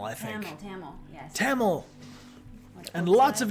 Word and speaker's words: Tamil: Is that how you pronounce it? Tamil? Tamil, I think. Tamil, yes.